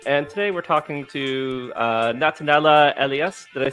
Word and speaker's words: Natanela Elia: And today we're talking to Natanela Elias.